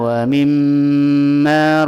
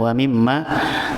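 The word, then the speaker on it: وَمِمَّا: yumminuna bil ghaibi waau yuqimunas shata wa mimma razzaqnaahumu yunfiquun alladina yminuna bil ghaibi waqimunata wimma hati-hati diwa mimma jangan kan wamimma tetapi wa mimma setiap ketemu mim tasdid atau nun tasdid didengungkan dulu didengungkan dulu ayat selanjutnya di situ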